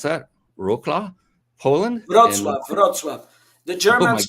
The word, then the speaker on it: Wrocław: Greetings from Henrique in, I don't know how to pronounce that, Wrocław, Poland? Wrocław.